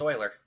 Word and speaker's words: Euler: and I'll call it Oiler it's pronounced Oiler all right Oiler 6